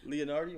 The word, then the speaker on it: Leonardo: Leonardio. Leonardo. Why you add an extra syllable?